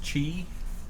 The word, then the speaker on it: Qi: aqi charger not the qi charger which is actually pronounced Chi for some reason it's not a chat